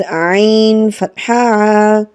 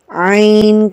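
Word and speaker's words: عين: and then it is ein ein kaspari reinder this iron it comes from the middle of the throat as in my lesson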